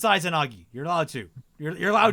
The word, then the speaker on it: Izanagi: Izanagi is pronounced Izanagi.